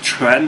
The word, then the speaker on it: quan: as I say, but the word Chuan, as in Tai Chi Chuan, okay, actually it's Quan, okay, Quan, Tai Chi Quan, that's what it should be, because Quan means fist, and it's spelled Q-U-A-N, okay, not C-H-U-N in actual pinyin in Chinese, okay, but I'm not going